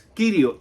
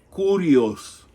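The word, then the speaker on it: κύριος: a sorprender, no es Kyrios. De hecho, Kyrios no es koiné, no es parte del griego koinés. El griego koinés, lo que muchos dicen Kyrios, se pronuncia kurios.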